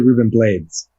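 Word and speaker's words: Rubén Blades: sure I call them bloodies I actually have been corrected in the past people it's actually Reuben blades um I think I think you're actually supposed to pronounce it the American way but I learned about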